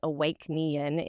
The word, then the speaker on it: Awæcnian: So that term, which is, if you really pronounce it, Awæcnian, is the old Latin term to mean awaken.